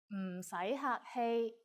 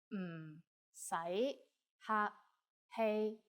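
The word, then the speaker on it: 唔使客氣: Just say 唔使客氣, 唔使客氣, 唔使客氣.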